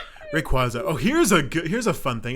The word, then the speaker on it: Rayquaza: Anyway, let's talk about number 8, Rayquaza. Rayquaza.